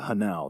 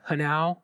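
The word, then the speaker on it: Hnau: Do you think it's a coincidence that Hanau rhymes with Tau?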